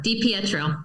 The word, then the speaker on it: Di Pietro: Di Pietro.